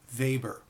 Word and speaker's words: Weber: from that of Max Weber now although you see in the text that this gentleman's last name is spelled w-e-b-e-r it's pronounced Weber that in German W is pronounced as V and vice verse so